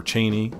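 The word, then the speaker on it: Chani: his love story with Johnny or Cheney in that version that's what the how they pronounce it but I really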